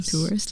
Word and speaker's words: Tours: How do you pronounce her last name? Tours. Like Tewers. So she bought like scrubs